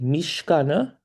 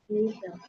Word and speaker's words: Misha: Remember um is it Mishkana? Am I pronouncing your name right? Mishe. Is it Mishe? Unmute quickly. I want to I just I didn't I don't know if I'm pronouncing your name right. Misha. Oh, Misha. Sorry.